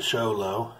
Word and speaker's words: Show Low: here then after that I drove up to show low it's pronounced Yolo I questioned it and it was